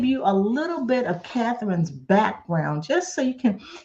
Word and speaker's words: Katharine: plus because your uh your name is pronounced like my mom's name so even though they're spelled differently but she was Katherine